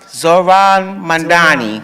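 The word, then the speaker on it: Zohran Mamdani: How do you pronounce his name? Zored Mandani. I Zoran. Oh, you see I still mess it up. Zoran Mandani.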